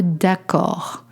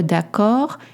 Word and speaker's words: d'accord: For that, we say être d'accord. You don't pronounce the D at the end. Être d'accord, it's to agree.